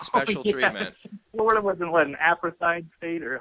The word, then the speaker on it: apartheid: Florida wasn't an apartheid state, or how do you pronounce that word?